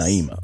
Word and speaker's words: Naima: Is that how you pronounce her name? Yes. Naima.